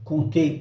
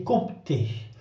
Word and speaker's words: compter: siècles, en ancien français, on disait compter, avec un P qui se prononçait bien. À la fin du Moyen-Âge, aux alentours du 15e siècle, le français a simplifié la prononciation de certaines consonnes dites implosives, celles qui se trouvaient au milieu des mots, surtout entre deux autres consonnes. Ainsi, le P de compter s'est fait discret jusqu'à disparaître à l'oral.